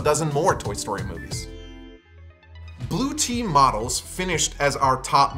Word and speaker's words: Bluetti: more toy story movies blue team models finished as our top mid-sized and large picks and yes it's pronounced blue tea not blue eddy like spaghetti both the mid 50s